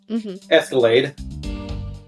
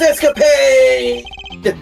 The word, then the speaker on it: escapade: You do realize that you just confirmed for us your chimney escape, yeah, Escalade. What? That's totally unfair. You tricked me, Edgy. It's pronounced escapade.